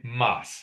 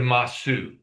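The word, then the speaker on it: ます: That sue sound, we often times slur it to say mas instead of masu.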